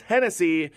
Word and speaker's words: Hennessy: it's easy it's Chris Hennessy and again you spell it like Tennessee just take the T and make it an H it's easy so it's